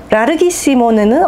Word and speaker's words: larghissimo: 근데 뭐 Larghissimo 이 정도 해주셔도 되고, 저는 이제 조금 더 강조해주기 위해서 그 성악가들이 이제 그 이탈리아 R 발음은 R 하면서 많이 굴려주거든요.